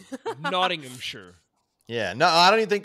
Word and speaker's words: Nottinghamshire: Well, it's because you're making it too many syllables. That's why I said Nomshire. Yeah, it's Nottinghamshire.